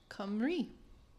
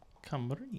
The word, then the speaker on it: Cymru: Which is the Welsh name in Welsh is actually pronounced Cymru. Cymru.